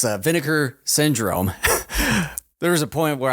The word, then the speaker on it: Vinegar Syndrome: And then it's like if you got the I don't want to mispronounce it. It's vinegar syndrome. There was a point where I mentioned to Ken, I said vintage syndrome.